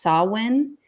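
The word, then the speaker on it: Samhain: uh excuse me a specific one and it's pronounced sawin It's s a m h i n if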